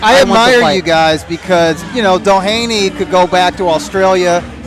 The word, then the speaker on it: Doheny: He'll be defending his title against TJ Doheny.